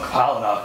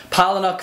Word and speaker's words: Palahniuk: Chuck Palahniuk, Phoenix. Now, I've heard some people pronounce Palahniuk's last name differently than how I'm